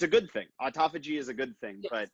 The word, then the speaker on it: autophagy: And Sam, I'm glad you're on here, because is it autophagy? Yeah, so autophagy.